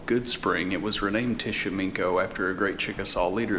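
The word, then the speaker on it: Tishomingo: here at the Museum the right way to say this is Tish sh me it sounds like it's got a K in it even though it's spelled with a G this town was originally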